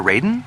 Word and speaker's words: Raiden: character now you know for the AI to correctly pronounce my name you have to spell it as Ryden r i g HDE